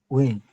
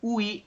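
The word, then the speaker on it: ㅟ: Win. Ya, Wi. betul. Dibacanya adalah wi. Wi. U dengan I dibacanya bukan ui, tapi dibacanya wi. Wi. Seperti itu. Beda ya. Ui dengan wi itu beda.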